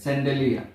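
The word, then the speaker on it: chandelier: ঝাড়বাতি আমরা দেখে নিচ্ছি ইংলিশটা কি ঝাড়বাতি হচ্ছে স্যান্ডেলিয়া সি এইচ এ এন ডি ই এল আই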